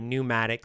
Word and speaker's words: pneumatic: slang in this story pneumatic start spelled with a silent P at the beginning it just means really